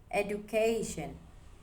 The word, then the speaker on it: education: Example number one, education. Education. The stress is on K, C and A.